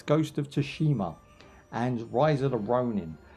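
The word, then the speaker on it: Tsushima: How do you pronounce that game? Ghost of uh can't see the title. Ghost of Tsunami, I call it, but it's not. It's Ghost of Toshima and Rise of the Ronin.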